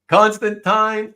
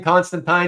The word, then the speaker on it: Constantine: it's not Aquaman Constantine I'm saying Constantine because apparently for North Americans we've all been saying it wrong all these years it's not supposed to be Constantine in the Brits the Brits the Brits overseas say Constantine so whatever I try